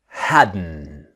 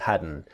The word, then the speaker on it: hadn't: Now remember the pronunciation is haden. The t sound haden just like wasn't where and hadn't and couldn't and shouldn't the strong n sound.